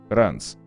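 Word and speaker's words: Reims: По правилам чтения французского языка, Ринс читается как Ранс.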